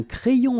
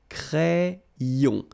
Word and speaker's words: crayon: And then when you get this Y between two vowels, then you will have this cré, so like if you would have I here, A-I, cré, and then another I here, yon, crayon, un crayon à lèvres,